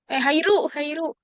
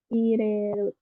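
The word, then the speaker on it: 入る: Tapi kalau penulisannya kayak gini, ini baru dibacanya hairu. Kalau kayak gini baru dibacanya ireru. Kuru, kalau kuru datang ya, jadi tidak tepat. Yang betul hari hairu ya.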